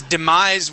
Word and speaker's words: demise: demise go right here that is demise with a voiced S at the end demise demise so I